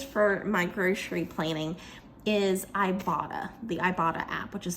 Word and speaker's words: Ibotta: But what I use, and this video is not sponsored, guys, but what I use for my grocery planning is Ibotta, the Ibotta app, which is spelled I-B-O-T-T-A.